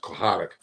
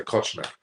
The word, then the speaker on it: Kochanek: They pronounce it Kochanek. I'd say Kochnek, but it means lover.